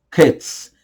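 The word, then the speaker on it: קץ: o sentido vamos lá a palavra fim do hebraico é cats cats tá repito cats mais devagar para você Professor pronunciar no hebraico cats cats então quer dizer o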